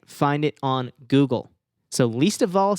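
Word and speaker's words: Leesta Vall: was episode 44 we interviewed the owner of least of all records but it is not spelled least of all it is spelled l-e-e-s-t-a space v-a-l-l i love the name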